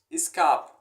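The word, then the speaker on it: ыскаап: Искап. Искап. Двойная гласная – это как ударение. Типа искап.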